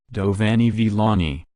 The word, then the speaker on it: Giovanni Villani: Giovanni Villani, Italian pronunciation, Giovanni Villani, c.